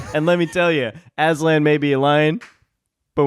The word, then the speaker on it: Aslan: Aslan. Oh, don't pronounce it like Oh, that. sorry. How do you pronounce it? Aslan. He said Asland.